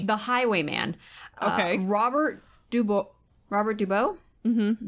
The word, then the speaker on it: Dubois: highway man okay robert dubois robert dubo mm-hmm b-o-i-s it's probably french so you don't probably pronounce the s so i don't fair